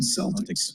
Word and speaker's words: Celtic: I think they pronounce it Celtic. It's It's not the Boston Celtics.